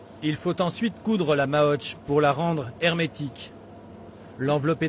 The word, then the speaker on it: maoche: La moche en français, ça s'écrit M-A-O-C-H-E, et on dit en patois la maotch. La maotch.